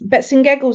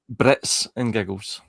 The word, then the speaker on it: Brits and Giggles: Brits and Giggles. Bits and Giggles. Lovely meeting you too. Sorry, I keep getting your name wrong. Yeah, Brits as in Britannia's Brits.